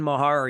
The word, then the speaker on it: Meagher: All right, that guy over there is Dan Mahar. You'll find him on Twitter at his name, Meagher. Stop asking me how to spell it. I had to. I have to write it down so I remember it. Meagher, just like Rick, who was a captain for the St. Louis Blues.